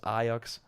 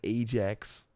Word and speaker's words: Ajax: the Amsterdam I I say it's like we pronounce it as aox I think in yeah in other countries would like Ajax not what it is do I support them